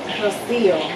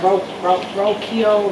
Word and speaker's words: Rocio: Well, first of all, my first name is Rocio. And so when people read that name, like they can barely pronounce it. They be like Rokio, Rockio. They can never say my name right.